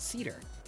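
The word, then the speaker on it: Scedar: And they're called cedar, with an S, spelled like this. The S is silent.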